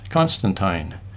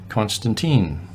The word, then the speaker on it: Constantine: the pronunciation of the name Constantine it is pronounced Constantine not Constantine we encountered many people in the Yukon who